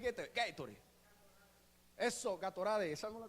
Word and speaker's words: Gatorade: Mal pronunciado, Gatorade. Es Gatorade.